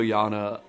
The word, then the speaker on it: Yana: and I just remember asking like Jana first I'm like yeah like how do you say your name and she's like Yana and I'm like Yana and she's like no Yana and so it was